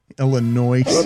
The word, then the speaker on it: Illinois: illinois illinois illinois yeah what do you do with the s there silent it's silenced you guys it is huh illinois some of us went